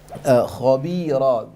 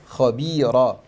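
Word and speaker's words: خبيرا: Khabira, make sure the kha is full mouth. The ba, not p. Khabira.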